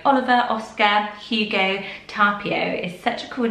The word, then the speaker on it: Tapio: And I'm sure I got the pronunciation wrong last time. I think it's correct now, and it's Tapio. Tapio.